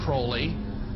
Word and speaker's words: Aleister Crowley: He likes to have his name pronounced Crowley to rhyme with holy.